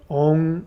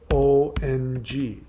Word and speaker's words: Om: Om, and you've got it written down the way most people write it, but that's actually not the most accurate way to pronounce it. So let me spell it out for you. So the Om word people think is OM. Even people in India think it's OM. It's not. It's ONG, and that's a long O.